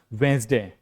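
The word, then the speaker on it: Wednesday: देखिए यहां पर भी डी क्या होता है? साइलेंट होता है। यहां पर इस आईपीए में डी के लिए कोई लेटर नहीं है। ठीक है? ये पड़ता है वेडनेसडे आधा ज।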